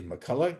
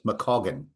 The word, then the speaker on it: McCaughan: His name is McCulla. Is that how you pronounce it? No, it's Mcoagan.